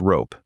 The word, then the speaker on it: RoPE: Rotary position embedding, usually pronounced rope, is the position method used in most modern language models.